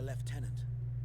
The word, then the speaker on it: lieutenant: if not for the leftenant where will we find this leftenant oh oh not the weird like British pronunciation of Lieutenant where's the F in that word there is no F